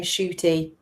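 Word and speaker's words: Ncuti: Only he pronounces his name Shooty, which is a beautiful What did I say?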